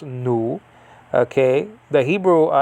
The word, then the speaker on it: nu: pronounced the name of the uh letter is pronounced nu okay the hebrew n by the way is